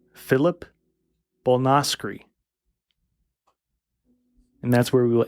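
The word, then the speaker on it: Bolnoscre: So Philip is spelled F-I-L-I-P. Fuck that. Anyway. Last name Bolnoskry. B-O-L-N-O-S-C-R-E. Perfect. Oh, Bolnoskry.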